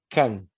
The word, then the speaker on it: Cam: Algumas traduções em língua portuguesa trazem cão, como fosse cachorro, C-A-O. Mas o nome correto é Cam, C-A-M, Cam.